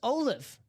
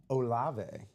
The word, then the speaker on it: Olave: Secondary headliners in this series include Antonio Gates, AJ Green, and Chris Olive. I'm sorry. Olave. Is it Olive? It is Olave.